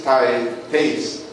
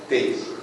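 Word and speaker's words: Thys: His name is Tace, T-H-Y-S, Tace, and we talked to him, and where are you guys staying?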